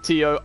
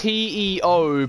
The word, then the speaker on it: Teo: It's T-E-O, but it's Teo. Teo, but spelled T-I-O.